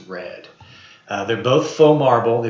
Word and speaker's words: R3D: this is j-o-p-l-a and this is red pla r3d I think is actually supposed to be pronounced red they're both faux marble